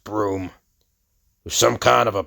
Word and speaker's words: Broom: Trevor Brutenholm, pronounced Broom, who's some kind of a paranormal whiz kid.